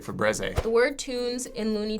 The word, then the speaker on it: Febreze: The sound Febreze sounds like there's 2 E's in there. If you spell it, I don't know why it would have 1 E like that. It'd be like Febreze.